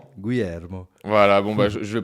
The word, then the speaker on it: Guilhermo: Aujourd'hui, on reçoit Guillermo, ou comment on prononce précisément ? Guillermo.